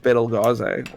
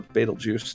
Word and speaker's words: Betelgeuse: in the vicinity of Betelgeuse, or Betelgeuse, depending on how you want to pronounce Beetlejuice!